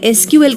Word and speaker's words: SQL: है structured query language इसे इस तरीके से प्रोनाउंस किया जाता है एस क्यूएल और यह रिलेशनल डेटा